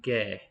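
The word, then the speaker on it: 개: If I say dog in Korean, it's gae. That's just one syllable, gae. And that syllable is made up, you have to think how many sounds are in it. G and ae, gae.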